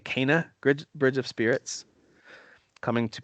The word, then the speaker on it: Kena: My most hyped game of the month for August is going to be, I think they're pronouncing it Kena, Bridge of Spirits, coming to PS4, PS5, and PC on the 24th.